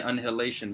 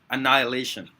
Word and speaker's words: annihilation: word thanks to jinx I was saying anihilation before Annihilation now why is he